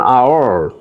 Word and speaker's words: hour: instance we say an hour our our because h is silent here and then we just pronounce this one.